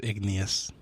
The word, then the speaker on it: igneous: shale is one right the word you guys want to say is igneous igneous igneous I'm not saying that's the answer I'm just saying that's how you pronounce what were you leaning